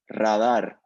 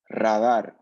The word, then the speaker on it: radar: pronunciation so actually in English is uh the pronounce is Raider but in Spanish is radar so we put here uh in English Raider